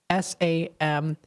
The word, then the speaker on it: Samhain: Now, if you look at the word Samhain, it's actually spelled Samhain, like S-A-M-H-A-I-N, but it's pronounced Samhain.